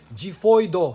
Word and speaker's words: Xiphoid: I gotta say it like the Japanese. Xiphoid Xcalibur.